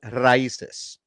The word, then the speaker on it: Raíces: how to pronounce raíces. Okay, there you go. Raíces, Raíces. raíces. Ay, Dios mío.